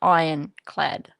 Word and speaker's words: ironclad: Iron. You don't pronounce the R, Daniel. Just ironclad.